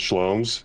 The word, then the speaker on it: SHL0MS: the rundown sure yeah my uh my name is schomes rhymes with homes um tell it's all good you didn't spell it with a c schomes yeah okay um